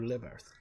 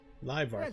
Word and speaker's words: Livarth: The rot is particularly bad to the northeast, northwest, and west of Livarth. Alright, we need to get some samples. Greetings. I am Talbira, and this grove is Livart. Livarth, that's how it's said.